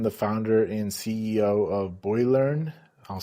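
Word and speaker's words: Boilearn: founder and CEO of Boylearn. I'll spell that out. B O I L E A R N. It's a combination of boiler and learning words together.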